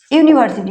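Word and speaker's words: university: আগে কি হবে তাইতো কিন্তু দেখ এর উচ্চারণটা দেখ ইউনিভার্সিটি ইউ ইউ ইউ ইউ তাইতো ইউনিভার্সিটিউ বল ইউনিভার্সিটি তাহলে ইউ আসটা কিটা আমরা জানি কনসোনেন্ট কনসোনেন্ট তাইতো কি একটা কনসোনেন্ট তাহলে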